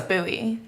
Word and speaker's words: Bowie: Yeah, and I grew up in a suburb called Bowie, Maryland. It's Wicked. spelled like David Bowie. Even better. But it's Bowie.